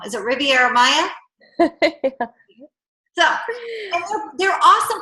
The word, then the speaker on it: Riviera Maya: Is it Riviera Maya?